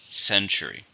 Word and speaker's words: century: How many syllables in century? 3. Stress on the first. Century.